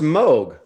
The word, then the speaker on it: Moog: like I want to say Moog there's two O's in that I know but I know we should say mo but I don't want to say that it's not fun it's pronounced mogh try no I know